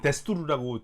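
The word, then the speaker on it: دستور: 예, 그래서 페르시아어고 페르시아어인데 이쪽에서는 그 이제 그 두스투르라기면 데스투르라고 주로 네, 발음을 데스투르. 하죠. 예, 그 모음이 좀 달라져서 네.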